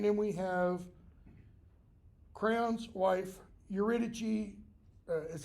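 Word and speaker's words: Eurydice: a messenger and then we have Crown's wife urichi is how her name is usually pronounced okay now if you remember in edus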